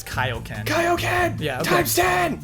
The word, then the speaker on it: Kaioken: We mispronounced Kaioken. We always say Kaioken, it's Kaioken.